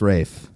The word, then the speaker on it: Ralph: So, it is pronounced Rafe, but it's spelled Ralph.